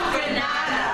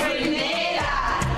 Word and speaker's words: Grenada: It's not Grenada. It's Grenada.